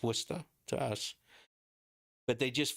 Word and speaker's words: Worcester: say it it's like Worcester you'd call it Woodchester but it's it's Worcester to us but they just found all that